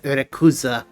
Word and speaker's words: Rayquaza: Fun fact, in Japan, uh, Rayquaza is pronounced something like Rakuza. Interesting. It is one of the more different Japanese pronunciations of the same name that exists.